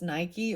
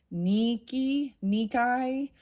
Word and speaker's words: Nike: Like I was saying, even the goddess Nike, or I believe it's pronounced Nikai, was kind of it.